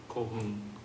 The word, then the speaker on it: Colquhoun: How do you pronounce that name, Derek? Laura Colquhoun. Laura Colquhoun? Colquhoun.